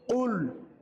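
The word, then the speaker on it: قُلْ: তাহলে কফ লাম পেশ কুল কফ লাম পেশ কুল কুল ইয়া খাড়া জবর ইয়া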